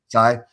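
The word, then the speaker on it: Tsai: group that includes Joseph how do you say it? Sai or Say? He's the Sai.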